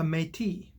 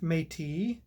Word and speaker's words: Métis: to the Canadian Constitution, a Métis. M with an accent on the E, T-I-S.